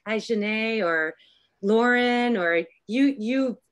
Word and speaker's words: Ajahnae: Am I pronouncing your name correctly? Help me out. Did I do all right? It's Ajane. Ajane, great.